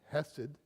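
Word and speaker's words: חסד: And one of my favorite Hebrew words there is the word hessid. I have a hard time pronouncing because you pronounce it with a cough. Hessid. It comes from the back.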